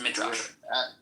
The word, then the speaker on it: Midrash: It is pronounced Midrash.